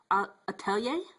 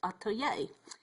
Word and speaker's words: atelier: I call it Meri's Atelier, and Atelier, Meri's Atelier, which stands for studio. I'm still learning how to pronounce the word.